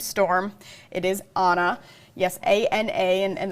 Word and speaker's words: Ana: Yes, A-N-A, and the pronunciation there is Ana, and it's kind of spinning out near Bermuda.